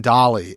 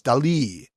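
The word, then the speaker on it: Dalí: you're saying Dolly, and it's Dali.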